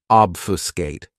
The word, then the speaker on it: obfuscate: is obfuscate this verb has three syllables and the stress is on that first syllable obfuscate what it means to